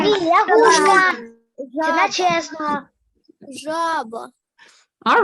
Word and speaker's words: жаба: А як ми Жаба. скажемо? Жаба, жаба, жаба. One more time. Жаба. Жабеня. Ні, Жаба. лягушка. Жаба. Jaba. Жаба. Jaba. Ні, лягушка. Це Жаба. чесно. Жаба.